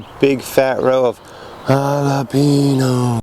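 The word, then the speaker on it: jalapeño: big fat row of jalapenos jalapeno that's how you pronounce it they put up a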